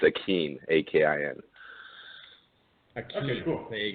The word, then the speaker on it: Akin: It's just pronounced weird, so people messed it up when I was growing up. It's Akin, A-K-I-N.